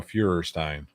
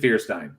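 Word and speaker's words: Feuerstein: fewerstein yeah josh fierstein oh fuhrerstein he pronounces it fearstein yeah yeah i said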